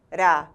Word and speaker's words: maracujá: em si por exemplo a palavra maracujá classifica-se como oxítona uma vez que sua sílaba mais forte é a última maracujá e como ela termina